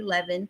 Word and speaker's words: Levin: I'm sorry you guys I keep saying his name wrong but it's Harvey Levan Wendy Williams sounds like